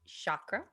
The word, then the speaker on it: chakra: So, most people say chakra, but it's actually really pronounced chakra.